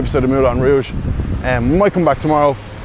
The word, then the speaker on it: Rouge: They don't pronounce the R, they say Rouge.